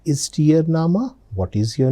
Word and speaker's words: Name: It's written just like English word name but the pronunciation is nama.